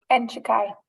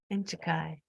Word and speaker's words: Andai: anybody opposed and um the pronunciation of that does anyone know it's andai thank you andai okay now we do